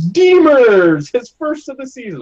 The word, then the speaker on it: Demers: game I was watching and immersed cortical it's Demers his first of the season I was like that's forever stuck as Demers I mean I'd be more than happy if